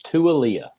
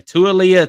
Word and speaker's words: Tua: I believe, and I haven't been corrected on it, but it's Tualia. Okay. Tualia Tagovailoa.